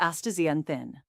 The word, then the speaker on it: astaxanthin: Excited, it is called astaxanthin, pronounced astaxanthin.